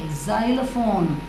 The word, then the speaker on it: xylophone: it's a musical instrument Z xylophone okay z z sound Z XY mean has to be pronounced as Z and next word also